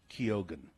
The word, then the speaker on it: Keoghan: Unlike many Irish variations where the G would be silent, but his name is pronounced Keoghan.